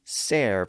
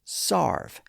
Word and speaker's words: serve: So a word like serve, pronounced serve at the time, was also sometimes pronounced as sarve.